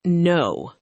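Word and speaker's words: know: The same thing happens with the word no. We spell it with a K at the front. But the K makes no sound at all. We just say no, exactly like the opposite of yes.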